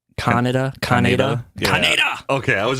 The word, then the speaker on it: Kaneda: Did they pronounce it like Canada in the dub? No, it's like Kaneda.